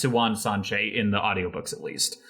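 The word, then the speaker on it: Siuan Sanche: her name when she's like delirious she goes silwan and it's pronounced siwan sanchez in the audiobooks at least hey uh i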